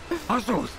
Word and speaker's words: Azuth: It's pronounced Azuth.